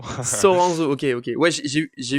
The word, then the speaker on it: Soranzo: ça va bien et pour la prononciation c'est Soranzo Soranzo ok ok ouais j'ai